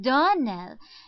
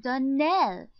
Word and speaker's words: Donnell: you pronounced our name darnell now miss shirley the correct pronunciation of our name is danelle accent on the last syllable i hope you remember